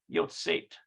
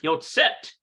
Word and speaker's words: יוצאת: Yotzet. יוצאת איתי הערב. It's more of an S sound than an A. So it's Yotzet.